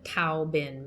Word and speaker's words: Tao Bin: with the machine, the Tao Bin machine. It's spelled T-A-O. So us as English speakers, we think it's a Tao, but it's not Tao, it's Tao. Tao Bin.